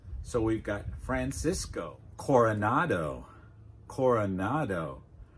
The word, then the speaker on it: Coronado: So we've got "Francisco Coronado" "Coronado" Core like inn "or" "Cora" Remember, /uh/ is one of the most common sounds in English "Cora" "Cora" Now "nado" "nado" Remember